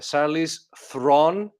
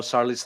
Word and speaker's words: Charlize Theron: South Africa and so my name is actually she says her name is actually Sally's Thrawn in South African but no one could pronounce it so it's now starless yeah yeah so it's